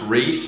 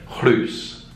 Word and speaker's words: Rhys: you pronounce your name it's pronounced Rhys is actually a Welsh name so a Welsh person might pronounce it clues or if you're Kevin who works at Starbucks on Fifth Avenue in America you'll pronounce it right just for Harvey you